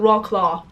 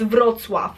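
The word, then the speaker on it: Wrocław: is VW actually and it's not rock claw it's vwf okay I heard so many times when people uh especially Americans pronounce it as rock claw are you serious that's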